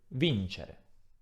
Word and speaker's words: vincere: Ad esempio, vincere. L'accento tonico all'infinito si trova sulla I e ricopiamo il